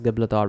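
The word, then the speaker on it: Gibraltar: crossing the Mediterranean Sea was named as jabula Tariq after him and is now pronounced as gablathar well actually this is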